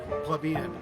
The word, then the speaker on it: plebeian: Plebeian. Plebeian. But it rhymes with being.